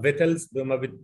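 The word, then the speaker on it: victuals: يو اي ال اس، وبتتكتب كده وبتتنطق فيتلز، ما بيتمش نطق فيها غير الفي والاي والتي والال والاس، انما السي واليو والاي لا تنطق.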